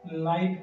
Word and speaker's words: light: में आ रहा है GHT और GHT अगर वर्ड के एंड में आ रहा है तो GH जो है वो साइलेंट हो जाता है। तो हम इसे क्या पढ़ेंगे, लाइट पढ़ेंगे।